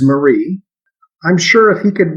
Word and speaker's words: Marie: pronounce my grandmother's name he called her mary her name is marie i'm sure if he